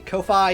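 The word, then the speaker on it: Ko-fi: me i have a kofi you can check down below i guess it's supposed to be pronounced coffee but you guys know what i'm talking about when i say kofi so that's why i'm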